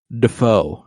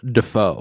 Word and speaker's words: Dafoe: for a little bit people thought it was Defoe because he pronounced his own last name wrong in a recital or like a performance that he had in like school yeah literally he called himself defo and I'm like okay well